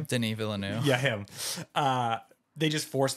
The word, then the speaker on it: Denis Villeneuve: Instagram just forced me to see things with Dilly Villeneuve. How do you say his name? Denis Villeneuve.